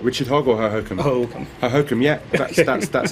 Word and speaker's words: Hohokum: Am I pronouncing that correctly in the first place? What, Richard Hogg or Hohokum? Hohokum. Hohokum, yeah.